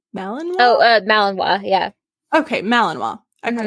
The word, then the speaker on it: Malinois: Malinois? Oh, Malinois, yeah.